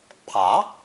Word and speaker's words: 爬: It's pronounced second tone. Pa, pa. The voiced B sound has changed into a voiceless P.